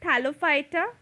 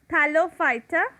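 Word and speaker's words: Thallophyta: pronouncing them one is thalophyta phyta is pronounced as fighter thalophyta bryophyta and pteridophyta in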